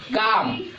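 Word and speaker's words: calm: काम क्यों पढ़ेंगे काम इसका उच्चारण होगा काम और इसमें कौन सा लेटर साइलेंट होगा एल क्यों क्योंकि ये एम से पहले आया है तो एल साइलेंट में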